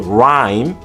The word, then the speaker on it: rhyme: The H's at the beginning of honest and honor have nothing to say. Neither do the ones in rhyme and ghost.